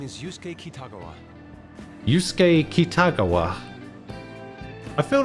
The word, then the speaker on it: Kitagawa: I feel like the emphasis is on the wrong letter there. I feel like the emphasis should be on the second A, not the first one. Kitagawa. I feel like it should be Kitagawa. I might be wrong though.